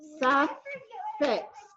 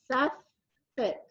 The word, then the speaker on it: suffix: may but s fix do you hear both FS it's two syllables and listen you can hear them both s fix so it does have the two FS but it's because it's two syllables and you can hear both of them in fact if we